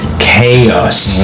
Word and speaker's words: chaos: So, the spelling is completely different from how it is being pronounced. So, the the spelling is chaos, but you you should pronounce the words as chaos. M chaos.